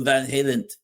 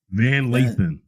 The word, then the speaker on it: Van Lathan: So that's what Van Halen. Did I say his name right? Van Lathan. Van Lathan.